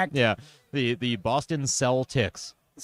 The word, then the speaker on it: Celtics: And not even pronounced like Celtic. Correct. Yeah. The the Boston cell ticks.